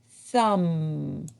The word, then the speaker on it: thumb: Thumb. There's a silent B at the end of the word thumb. Okay, arms up.